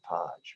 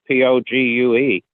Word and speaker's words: Pogue: said mad pogue now is that the correct pronunciation of it i thought it was mad podge matt pogue oh well that's there was an astronaut name his last name was p-o-g-u-e it was they always pronounced it pogue okay